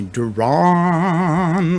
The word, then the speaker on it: Deron: would say but it's spelled d-e-r-o-n which is obviously pronounced duran and like for most